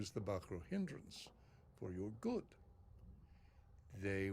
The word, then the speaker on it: Bahro: Well, he pronounced it with like a hard H in the middle. I was calling them Baro. I think they're Bahro. I think I was following Oz's pronunciation, but yeah, this guy said Bahro.